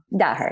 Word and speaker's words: Daher: Daher.